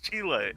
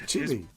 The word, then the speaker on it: Chile: No, it's Chile. That's Chile. It's Chile. That's not how you pronounce it. Chile.